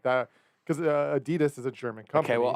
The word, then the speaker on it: Adidas: it's like a adidas you know how we pronounce it adidas here but it's adidas in german i think you've said